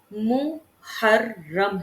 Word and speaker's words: محرم: عظمت والا ہے۔ ٹھیک، محرم کا جو تلفظ ہے وہ محرم ہے، یعنی میم مضموم ہے، ہا مفتوح ہے اور را مشدد ہے۔ ٹھیک، محرم کی جمع